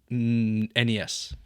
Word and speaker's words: NES: the ones that I want and that I would prefer is either the Game Boy or the NES. Okay. Thank you for pronouncing it properly.